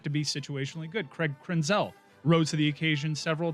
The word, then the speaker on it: Krenzel: is not better than that why did you pronounce craig krenzel's name that way it's ten dollar fine is